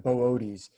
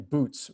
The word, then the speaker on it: Boötes: So I think it's pronounced Boötes. You see those 2 dots that I put above the second O. Those 2 dots are like to say you pronounce the O twice. Otherwise, we would just think, it must be boots, right? or booties or something.